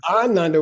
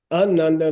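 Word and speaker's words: आनन्द: Ananda with a long A means very happy person.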